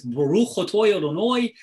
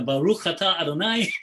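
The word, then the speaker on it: ברוך אתה אדני: So I always get a kick at it because Sephardic Jews don't say that. Sephardic Jews says Baruch Atah Adonai Eloheinu Melech Hayolam. So you got this Baruch Atoy Adonoy, and you got the Baruch Atah Adonai.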